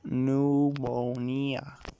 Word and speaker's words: pneumonia: this is thanks to its greek origins like pneumonia that it is caused when you catch excessive cold also has asylum p so it is pronounced pneumonia finally you will every know and find a